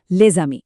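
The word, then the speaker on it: les amis: जैसे लेजामी में एस जागकर जेड की साउंड निकालता है और यह बन जाता है लेजामी।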